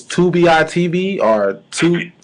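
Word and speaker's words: Tubi: I want to say it's 2bi TV orb 2B it's pronounced 2B but it's tbii TV tub TV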